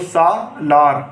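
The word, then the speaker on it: سالار: तो जब आप इन तीनों को मिलाओगे तो सा लार पढ़ा जाएगा।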